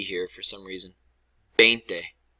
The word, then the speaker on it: veinte: Veinte. Veinte. Te. It ends in T-E. That's pronounced te.